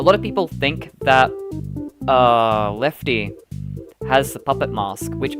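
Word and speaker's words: Lefte: assume to spell it L-E-F-T-Y. It's actually spelled L-E-F-T-E because it's an acronym. But if you said Lefty out loud to someone, they're going to assume it's a Y.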